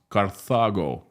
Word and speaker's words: Carthago: In Latin, it sounds Carthago delenda est, because the city was called Carthago, not Carthago is English pronunciation, but the Latin is Carthago, or even Carthago or something like that.